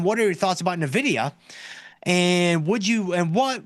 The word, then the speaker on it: Nvidia: The correct way to pronounce this company is Nvidia. N like n uh video, right? But I hear Nvidas and all kinds of other crazy things. It is Nvidia.